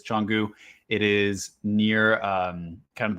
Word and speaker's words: Canggu: I finally got the pronunciation on this. It is Canggu.